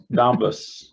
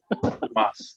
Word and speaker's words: Donbas: Donbas. Dumbus. Yeah. It's Every pronounced time they say it, it's Dumas. like dumbass. Donbas.